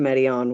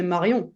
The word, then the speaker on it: Marion: to speak French to Marianne, which I don't wish that on her or anyone else. And funny because by the way, no one here is able to say Marion, which is the correct pronunciation.